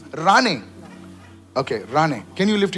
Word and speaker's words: Rane: It's Rane. Okay, Rane. Can you lift your hands up, please? I must have missed it. It's Rane. It's not Mane, it's Rane.